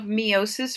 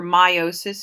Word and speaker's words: meiosis: The third page, I believe, is a diagram of meiosis or meiosis. It's pronounced either way.